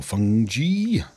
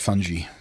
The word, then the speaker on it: fungi: Harvestable plant or fungi. Uh, people pronounce it fungi. I hate them. It's fungi.